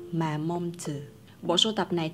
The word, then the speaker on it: Mamonde: bạn rửa bên hàng chỉ là marmande phải đọc là mà mong từ bộ sưu tập